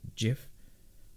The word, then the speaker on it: GIF: So anything that has .csn in it, and anything that has .gif, and yes, it's GIF with a hard G. That was a soft G.